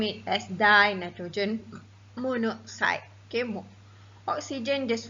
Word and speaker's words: monoxide: avoid the awkward pronunciation, we often drop the O or A, just like just now, monoxide. We don't call it as monooxide.